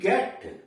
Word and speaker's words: get: इसमें देख रहे हैं कि इनके बाद यानी जी के बाद ई भी आ रहा है, आई भी आ रहा है, फिर भी उच्चारण इसका गो हो रहा है।